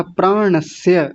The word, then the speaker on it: प्राणस्य: प्राणस्य, श तालव्य शकार बना दिया था, प्राणस्य ऐसा बोलिए। प्राणस्य। नहीं, अभी भी तालव्य शकार आ रहा है, प्राणस्य, प्राणस्य। इस बार ठीक है।